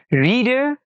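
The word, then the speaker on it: read: ব্যবহার করা হয় যেমন কিছু এক্সাম্পল দেখি Tania রেড story book every night okay এখানে জানে রাখি রিডের পাস্ট ফম অর্থাৎ ভিট ফমটা আনচে আনচেঞ্জ মানে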